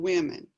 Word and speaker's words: women: and this is women so even the o is pronounced differently between man and between woman and women woman woman woman woman